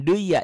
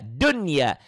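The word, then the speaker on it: دنيا: Dunya ini nun mati ketemu ya, harusnya idgham biguna. Karena ketemu satu kalimat, ini dibacanya jadi idhar. Jangan duya, dunya. Kenapa? Karena nun matinya ketemu ya satu kata, satu kalimat. Maka ini tidak jadi idgham. Inilah yang dikatakan idhar mutlak. Harus mutlak dibaca jelas.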